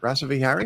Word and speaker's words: Rasavihari: Now, I believe your name is pronounced Dr. Rava Rasa Vhari. Is that it? Rasa vihari.